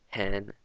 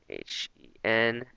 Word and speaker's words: 很: So wo, again, the pinyin, W-O, downward up, hen, H-E-N, and this is another downward up pronunciation, so it's hen, and hao, H-A-O.